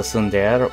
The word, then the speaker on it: tsundere: Do you know a nemesis is a tsundere? What is a tsundere? I've heard that term before, but I don't know what that is. Pronounce sundishre, sundare. Tsundere. Tsundere.